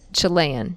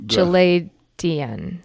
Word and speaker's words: Chaldean: You said Chilean. Chaldean, right? Chaldeans.